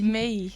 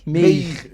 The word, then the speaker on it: Meir: Meir. Meir, isso.